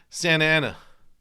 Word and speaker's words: Santa Ana: Like the Southern California thing, where anything that goes NT, they don't pronounce the T. Yeah. Like where do you live in Southern California? Santa Ana.